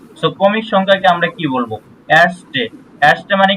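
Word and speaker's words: erste: বলেন তো একজন ভাইয়া আমি বলবো হ্যাঁ বলেন আর্স্টে প্রথম এরস্টে এটা এর মধ্যে উচ্চারণ হবে না এরস্টে এরস্টে ওকে প্রথম নাম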